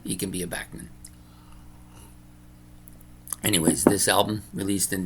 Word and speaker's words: Bachman: say it Turner overdrive I know there's people that are arguing it's bman I'm not going to argue with them I've known him as Bachman my whole life it's spelled Bach why like Bach but Randy insists that it's bman so I'm not going to argue with him it's his name right if he wants to be bman he can be a